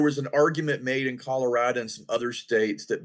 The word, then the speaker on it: Colorado: What's interesting in your home state of Colorado, and you can probably opine on this a little bit more better than I. Well, but, and by the way, Mark, it's pronounced Colorado, not Colorado. Colorado.